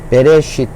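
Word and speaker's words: בראשית: 자, 그래서 정리를 해보면 이게 베, 리을의 에, 요거는 묵음이 돼서 발음이 없고요. 요거는 아까 요렇게 요게 이라고 했기 때문에 요게 쉬라는 발음, 자음 발음을 갖고 있기 때문에 이를 겹쳐서 해도 그대로 쉬가 되죠. 그리고 타브인데 티귿에 모음이 없을 때는 으 발음한다. 그래서 베레쉿 이렇게 발음합니다.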